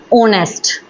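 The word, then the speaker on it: honest: जो भी हमारे singular countable noun silent H से स्टार्ट होते हैं उनसे पहले भी हम एन आर्टिकल यूज़ करते हैं। फॉर एग्जांपल ऑनेस्ट ऑनेस्ट है जैसे हमारा ऑनर है।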